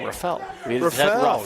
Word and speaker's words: Rafel: Uh we finally got an official word of the pronunciation of his name. Rafel. We had Ruffle before and I apolog I